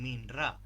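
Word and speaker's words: Memra: utiliza el término eh hm mená. Algunos pronuncian minra, supongo que es porque viene derivado del inglés.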